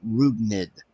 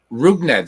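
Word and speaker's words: Rougned: It's by the way, his first name is pronounced Rugned. Rugned? Rugned.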